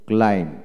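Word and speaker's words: climb: তারপর আছেন সি এল আই এম বি কি হবে ক্লাইম ক্লাইম, নট ক্লাইম্ড, বি হবে না ক্লাইম।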